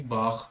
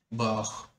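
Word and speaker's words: Bach: याद रख सकते हैं, बट प्रॉपर प्रोनाउंसिएशन जो है वो उसकी बाख है, बाख।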